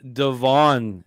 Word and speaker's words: Devon: tapes however you want as long as you pronounce Devon Taylor correctly because everyone calls him Devin and they look like